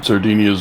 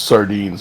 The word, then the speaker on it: sardines: Make sure to put some Sardinias on your pizza. All right, Wade Dubs to lead it off here. Like how it's literally pronounced sardines, and you're putting some interesting flavor on that name.